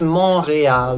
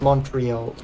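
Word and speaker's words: Montréal: you some French it's monreal not Montreal Montreal Mar the t is silent and the e is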